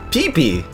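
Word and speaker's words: Piepi: are pretty much self-explanatory clefairy in german is peepee and this sounds similar to its japanese name peepee just with a long vowel in the first syllable i wonder why they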